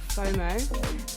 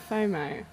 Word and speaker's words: FOMO: and rack and ruins did I pronounce that right fomo yeah yeah cuz I I called you f for AG and then I like actually looked and read it for I was like no that's fomo it's quite cool like wherever